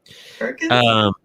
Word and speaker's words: Hurricane: Hurricanes? Yeah, there's a local town. It's Hurricane, West Virginia, but it's spelled hurricane. But they say it hurricane.